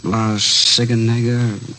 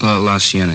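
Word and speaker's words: La Cienega: Uh La Sigenega, is that how you say it? La Sienna.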